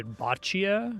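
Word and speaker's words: bocce: Botchia. Always heard it called botchi ball. Like b o cce e.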